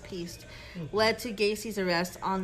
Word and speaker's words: Piest: His last name is pronounced Piest.